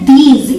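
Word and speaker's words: these: इसे हम प्रोनाउंस करते हैं दीज. इस बात का ध्यान रखिएगा कि यहाँ पे ज के नीचे एक बिंदी है, ये बिंदी, इसे हम ज प्रोनाउंस करते हैं, ज. ठीक है, इसे आप दीज नहीं बोलेंगे. अगर आप दी ज बोलते हैं तो वो गलत हो जाएगा, आपको बोलना है दीज.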